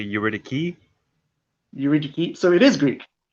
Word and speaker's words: Eurydice: Well, I say Eurydice because it's Eurydice. pretty, but Eurydice. I think the proper pronunciation because it's Greek, it's actually Eurydice.